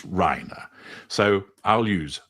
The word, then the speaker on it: Reiner: But I understand that the correct pronunciation so far as the Rhina family is that it's not Raina, it's Rhina. So, I'll use Rhina.